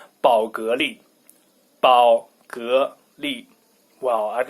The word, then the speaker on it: 宝格丽: But anyway, I would pronounce it Bulgari. But in Chinese, it's 宝格丽.